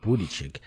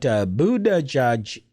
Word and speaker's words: Buttigieg: Because to me, it looked like Buttigieg. But Buttigieg.